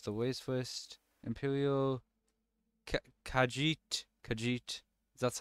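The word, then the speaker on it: Khajiit: do let's change the ways first Imperial kajit kajit is that's how you pronounce it nor they just look pretty similar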